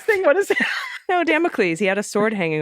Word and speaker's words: Damocles: this is sort of democals damn it please Damocles I like democals well I like it spelled it's spelled like democals okay sort of demo please